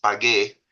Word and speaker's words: pague: And be careful that you pronounce this as pague.